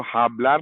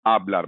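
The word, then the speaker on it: hablar: तो जैसे हमारे पास एक स्पेनिश का वर्ड है आबलार, तो आप इसको हाबलार नहीं बोलेंगे, आप इसको आबलार बोलेंगे।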